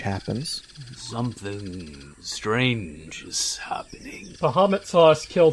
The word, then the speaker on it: Bahamut: Bahamut saw us kill 2 innocent owlbears and has forsaken us.